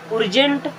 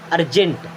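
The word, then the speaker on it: urgent: Then उर्जेंट, उर्गेंट, अर्जेंट। क्या? अर्जेंट।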